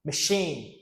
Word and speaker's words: machine: Machine. Machine. Machine with the schwa sound.